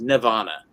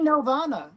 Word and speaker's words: Nelvana: Now Alan doesn't say Nelvana. He says Nirvana. How do you say it? I say Nelvana. You never say Nelvana. Now you do. There's always Nirvana. Nelvana. Yeah, it is Nelvana.